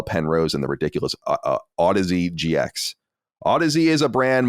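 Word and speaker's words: Audeze: Audis a-u-d-e-z-e is pronounced Odyssey like the word Odyssey with a weird spelling I would just like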